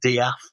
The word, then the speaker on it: Death: I think they tend to pronounce their names as if there's an apostrophe between the E and the A, and Diaf.